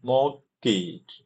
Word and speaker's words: mortgage: insurance to home mortgage 体不发音 mortgage mortgage mortgage mortgage okay home mortgages the sole reason for their creation in the first place.